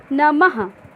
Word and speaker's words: नमः: इसका उच्चारण हा के जैसे होता है, इसका उच्चारण हा के जैसे होता है। इसका अधिकतर प्रयोग संस्कृत भाषा में किया जाता है। जैसे प्रातः, हा का उच्चारण हुआ, नमः, हा का उच्चारण हुआ ना, ये है हमारे विसर्ग।